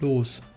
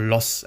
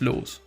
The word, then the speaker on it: Loos: German pronunciation, Adolf Loos. Or Loss, actually. No, it's Loos. Loos.